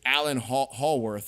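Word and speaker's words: Alan Howarth: But this was John Carpenter taking the original score and basically with Alan Hallworth, I believe is how you pronounce his last name, fully producing the music for a Halloween film.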